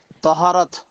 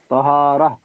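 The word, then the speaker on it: طهارة: এখানে আরবিতে লেখা তহা আলিফ র আর গোলতা তহারা উচ্চারণ এরকম তহারা অথবা তহারাত বলতে পারবেন অসুবিধা নাই তহারাত হলো নামাজের শর্ত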